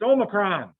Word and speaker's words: omicron: have a clue how to say it it's omicron yeah hey there's two two greek letters that